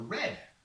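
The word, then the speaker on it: redd: They lay their eggs it's called a red. It's called red. It's like this paper or my shirt, red. It's not spelled red. It's spelled R-E-D-D.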